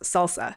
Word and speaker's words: SLSA: It's abbreviated to SLSA, which is pronounced salsa, and the website is at salsa.dev.